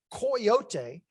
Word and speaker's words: coyote: name for the animal, which in the Nahuatl language was pronounced coyote, but it had been Hispanicized by the settlers of the Southwest into 3 syllables, coyote.